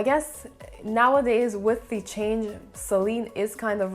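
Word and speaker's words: Céline: on the east so the first e in celine would have like an accent going this way and that makes kind of a say sound so it's not sir but it's more of a say and i guess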